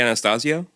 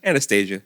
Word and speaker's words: Anastasio: Trey Anastasio. Yeah. Yeah. Okay. What' I say? Anastasia. I always said that. Okay, you're wrong. He's one of my favorite guitar players and I say his name wrong.